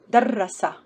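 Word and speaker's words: دَرَّسَ: With Shadda. Remember, Shadda means we have two consonants, two ras. The first ra has sukun, the second ra has fatha.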